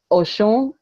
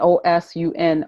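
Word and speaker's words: Ọṣun: One with a dot underneath that makes the sh sound, and one without the dot that's the sound. So for people to understand, you can Oshun, O-S with a dot underneath, U-N, and O-S-U-N are two different divinities, or two different divinities, Osun and Oshun.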